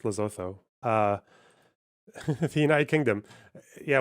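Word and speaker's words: Lesotho: tariffs and watch the It's pronounced Lazotu. Okay. I'm white. It's Lzotho.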